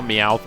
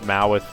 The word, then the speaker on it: Meowth: I heard someone call Meowth Mowith once.